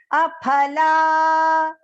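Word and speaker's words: अफल: So you will not recite it as f. Here you have to pronounce the that second alphabet as p. Okay. Aphala.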